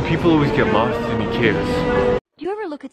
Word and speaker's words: IKEA: We're here at IKEA, black, blue, and yellow signature. Or IKEA, my bad. Yeah, I've been pronouncing it wrong my whole life.